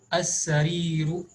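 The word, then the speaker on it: السرير: As-sariru means the bed, sin is from huruful shamsiya, so lam is omitted while pronouncing.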